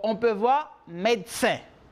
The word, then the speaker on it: médecin: On a maintenant, pour le troisième, médecin. Puede ver médecin con una E. Pueden escuchar médecin o on peut voir médecin. Cuando la persona lo dice, sale como si fuera una T, médecin, médecin.